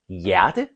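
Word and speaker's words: hjerte: Y because of the J. The H is not pronounced and it is almost like this roller coaster sound.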